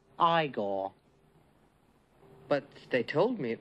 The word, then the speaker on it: Igor: it's Frederick Frankenstein I see you must be eigor no it's pronounced igore but they told me it was eigor well they were wrong then weren't they hello